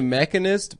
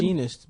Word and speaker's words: Machinist: He made the Mechanist before he did Batman. Is that how you Begins. pronounce it? Machinist, bitch.